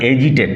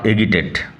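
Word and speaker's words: agitated: বিচলিত করা এ অর্থে ব্যবহার করা হয়েছে ডিস্টারবড ইরিটেট cause two stir বেক্স এনয় এগিটেড sorry AG আই টি এটি উচ্চারণ হয় এজিটেড নট এিটেড ডিস্টারব নাউন ফরমাই ডিস্টারবেন্স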